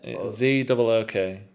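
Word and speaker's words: Zouk: Z-O-O-K. Z-O-O-U-K, I think. Oh, is there I a think U there's in a it? U in there, yeah. That's why it's like Zook.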